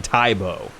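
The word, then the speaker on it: Tae Bo: uh you know egocentric so he changed the pronunciation to uh to tai bo so fun fun fact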